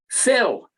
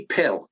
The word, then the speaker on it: Phil: an s is pronounced we can't get them to understand if you have a p foreign h it's pronounced fill now they'll call me pill because they see the pee so they'll go pale pill they called me over